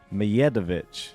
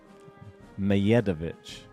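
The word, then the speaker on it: Medjedović: people in the comments, Mijedovic. The D is silent like Djokovic. How'd you say it? Mijedovic. Mijedovic.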